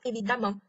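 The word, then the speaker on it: évidemment: 注意，不仅要双写 m，发音也变了 evidemment。那双 m 前面的 a 发的是 r 的音 evidemment。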